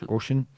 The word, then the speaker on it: Ghosn: It's spelled Ghosn. Goshen.